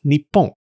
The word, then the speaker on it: Nippon: Anyways, this new name was pronounced Nippon by the Japanese.